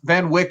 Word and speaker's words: Van Wyk: name the right way van vike is that right that's that's good van wyck is sort of how we say it here in north america but i know that's